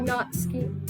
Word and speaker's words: Natsuki: We call her Natsuki. Oh, do we? It's Oh, it actually says- pronounced Natsuki.